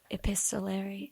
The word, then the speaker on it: epistolary: You pointed out this was our first epistolary. Thank you. We define that for the listeners like Let me make sure I'm pronouncing it right.